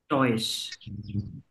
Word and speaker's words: Deutsch: স, তালি বা স্বর মতো উচ্চারণ হবে। টয়েস।